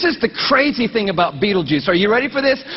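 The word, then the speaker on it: Betelgeuse: heard about this star it's called Beetle geese or Beetle Juice you can pick your pronunciation I'm obviously going with Beetlejuice and Beetle Juice is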